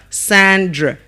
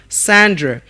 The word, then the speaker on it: Sandra: Now the letter A in the name there is giving us a schwa sound. So we're pronouncing it as Sandra and not Sandra. It's not Sandra, but Sandra.